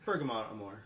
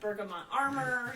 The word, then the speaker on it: Bergamot + Amor: Bergamot Amor.